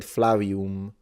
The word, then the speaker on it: Flavium: He said Flavium with a W.